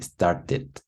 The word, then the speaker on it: started: Y los que sí, los que sí realmente se pronuncian, que luego se los olvida pronunciarlos, todos los que terminan en T y en D. Todos los que terminan en T o D. O su penúltima palabra también es T o D. No. Start, started. Aquí sí, started. ¿Ya? Literal, aquí sí se pronuncia.